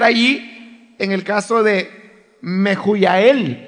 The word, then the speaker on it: Mehujael: en el caso de Mehujael. Esa es la pronunciación en griego. Pero si usted la ve en la Reina Valera, está escrito con H's. Y usted sabe que en español la H es muda.